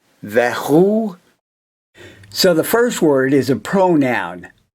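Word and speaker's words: וְהוּא: U, and of course the aleph at the end is silent. Vehu.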